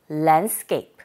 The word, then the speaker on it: landscape: 우리 글자 그대로 발음하게 되면 랜드스케c이프 하시게 될 텐데 원어민의 소리를 들어보니 landcap.